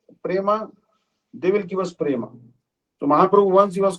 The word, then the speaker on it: prema: basically it is uh so Prema is actually two and a half syllables two and a half